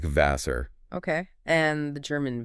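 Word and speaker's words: Wasser: The German W, which is pronounced V, actually sounds like an English V. So Vasser, water, sounds like Vasser.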